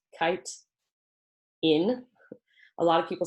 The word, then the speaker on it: chitin: sorry this is said pronounced as if it's spelled kite in a lot of people say chitten which is not correct